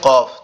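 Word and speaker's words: قاف: কফ হচ্ছে জিউবার গোড়া। উপরের তালুর সঙ্গে লাগবে। লেগে উচ্চারিত হবে।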